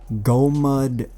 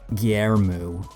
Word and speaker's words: Golmud: you enunciate it incorrectly, Golmud Railway. And I'm not the best with Chinese, but I believe it is pronounced Guillermo Railway. Well, they don't say railway, but Golmud is Guillermo, apparently.